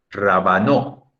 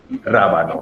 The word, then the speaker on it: rábano: Si fuera grave sería rabano. Y rabanó sería si fuera aguda. Pero no se dice ni rabanó ni rabano, se dice rábano.